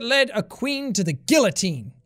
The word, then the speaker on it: guillotine: The diamond that led a queen to the guillotine. Or guillotine, as the French would pronounce it.